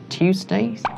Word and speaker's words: Tuesdays: Tuesdays? Tuesdays. Tuesdays. Tuesdays. Yeah, it's like T-W-O. Tuesdays. Tuesdays. Tuesdays. Tuesdays. More like the U, yeah. Tuesdays. Tuesdays, yeah. It's almost like a CH sound.